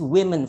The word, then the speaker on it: women: I know it still looks like women, but it has to be pronounced in a way, it's women for plural, all right? As if it's W-E-M-E-N, okay?